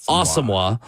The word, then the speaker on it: Asamoah: It is pronounced Asamoah, according to the team.